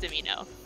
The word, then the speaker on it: Domino: last name was demino spelled domino but pronounced dimino so like me i